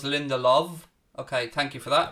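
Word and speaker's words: Lindelöf: to throw into united lindelof is pronounced with a v so it's linda love okay thank you for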